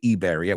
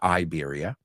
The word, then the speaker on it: Iberia: this planet 1967 Iberia you say Iberia we say Iberia Iberia flight 062 crashed